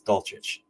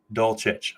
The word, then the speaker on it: Dulcich: Everybody is butchering his name, and I'm not picking on anybody here, but just so you know, the way you pronounce it is Dulcich. Dulcich, okay?